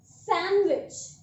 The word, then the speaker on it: sandwich: The first word we have that is सैंडविच। यस, सैंडविच, नो सैंडविच। यहाँ पर जो ये डी है इसको आपको यूज नहीं करना है।